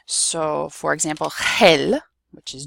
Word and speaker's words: gel: So, for example, if we have GE or GI, the word is going to be pronounced with a soft h sound. So, for example, gel, which is gel, or biolo, change this to an accent, biología.